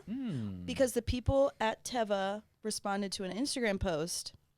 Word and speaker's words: Teva: Did you know that this is Teva. that it's pronounced Teva? Hmm. Because the people at Teva responded to an Instagram post and they said it's pronounced Teva because it's the Hebrew word for nature.